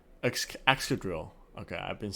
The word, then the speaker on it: Excadrill: Excadrill.